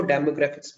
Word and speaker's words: demographic: Okay, इसमें जो जो DEMO है ना, वो O साइलेंट है इसमें, डेमोग्राफिक। Demographic. I think Demographic. डेमोग्राफिक, तो इस चीज का, हाँ जी, ओ नहीं बोलना हमने, म बोल देना उसकी जगह, डेमोग्राफिक।